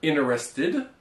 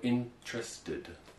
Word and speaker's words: interested: So we have interesting or interested. Okay. Or we can also pronounce it as interesting or interested. So in this case, once again, we don't pronounce every syllable. Well, you don't read it as it's written, but you kind of smush them together and you say interesting. Interested.